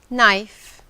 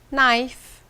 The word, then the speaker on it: knife: Knee, no, knife, knock. Nessas palavras, por exemplo, nós não pronunciamos a letra K antes do N no começo da palavra. Todas elas começamos com som de N. Knee, no, knife, knock.